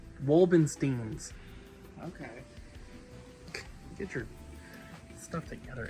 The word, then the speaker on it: Wolfenstein: Am I saying that correctly? Wolfenstein. No. How do you say it? Wolbensteins.